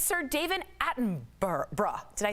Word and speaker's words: Attenborough: It's Sir David Attenborough. Did I say it right, Steph? Bruh. You did. You did good. Attenborough. Attenborough.